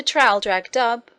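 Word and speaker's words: Traldragdubh: and my retinue to trial drag dub or trill drug drip for it is pronounced both ways as near as i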